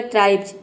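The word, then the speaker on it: tribes: तो इसलिए हम यहां पे एस को ज प्रोनाउंस करेंगे। यहां पे देखिए बी इ एस हो जाएगा आधा ब और ज पूरा हो जाएगा ट्राइब्स।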